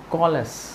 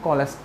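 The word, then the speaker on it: callous: आया आगे बढ़ते हैं कॉलस कॉलस इसको क्या बोलते हैं कॉलस कैलस नहीं बोलना क्योंकि सी ए डबल एल यहां पर कॉल का साउंड आ रहा है और फिर यहां पर अस कॉलस कॉलस का मतलब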